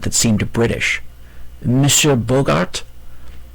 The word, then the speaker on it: Bogart: "Monsieur Bogart?" She pronounced the hard G and the T.